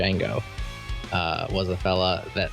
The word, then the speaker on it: Django: you think about that how do you say it you don't say it to Django do you I I definitely say Jango I I I have heard Django before um one of